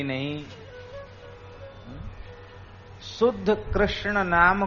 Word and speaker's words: कृष्ण: आपका ऐसे नहीं चलेगा कृष्ण को कृष्णा कह दो यह मंत्र में नहीं चलेगा राम को रामो बोल